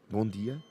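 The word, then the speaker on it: bom dia: say it in portuguese in portuguese we say bon dia good morning is bondi bondi exactly but rihanna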